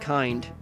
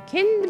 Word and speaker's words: Kind: It's pronounced kind, not kind.